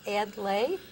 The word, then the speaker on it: Adlai: Adlai. We learned we answer to most anything, yeah, and we've heard most everything. So the correct pronunciation is Adlai?